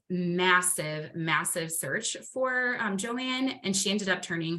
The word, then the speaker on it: Joan: um and so um Joanne I know it looks like it's Joan but her name is pronounced Joanne um she is a